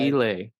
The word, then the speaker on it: Kiley: Oh, and it's KEE-lay, by the way, as far as like. KEE-lay. Yep. Oh, that's quite a flair. Yeah. Even though it's spelled Kiley.